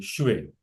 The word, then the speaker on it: 谁: Who is अरे भाई the Shui? हाँ, so चाइनीज में मॉडर्न जमाने में आजकल हम शेई बोलते हैं, SHEI। पहले के जमाने में हम SHUI बोलते थे।